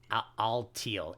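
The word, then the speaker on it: Alteel: its nickname so which is uh it's it's pronounced all teal a-l-t-e-e-l cool we're not using Focus energy by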